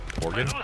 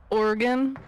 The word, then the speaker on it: Oregon: Oregon.